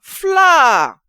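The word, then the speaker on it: flour: Flower. F-L-O-U-R. Flower. And beside it, you have another word that has similar sound.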